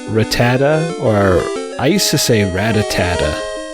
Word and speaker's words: Rattata: or Isis a ratatata I think it's pronounced Rattata like sir when I was a kid I never pronounced the last day I was gone Ratatat just sounded better that way my look kid mind